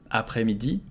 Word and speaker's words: après-midi: Bon après-midi. So again, we don't say that, so let's just look at après-midi. Après, we don't pronounce the S. Après-midi.